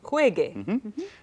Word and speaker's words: juegue: The g, hard g. So GAR verbs, verbs that end in GAR, are going to change to GUE. To keep that g sound, we need the letter Correcto. U. Juegue. And then the last one